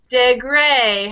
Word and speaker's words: Degré: And the last E has a tilde over it.